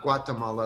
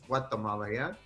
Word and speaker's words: Guatemala: i say it right it's not guatemala like we say in u.s it's guatemala yeah guatemala that's right